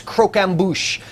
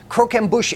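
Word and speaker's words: croquembouche: holiday Suite is something that I couldn't even pronounce until I went to culinary school I didn't even know what it was it's cro amush cro amush is perals they're they're puff p PES um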